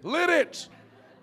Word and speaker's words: Lititz: Lititz! Lititz! I thought it was a French word. Lititz. lit it, not the other way.